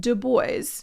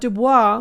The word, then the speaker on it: Du Bois: And yes, he wanted it pronounced Du Bois. He thought Du Bois was too fancy.